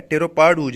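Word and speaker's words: pteropod ooze: ठीक है, इसमें पी साइलेंट है, टेरोपाड ऊज है।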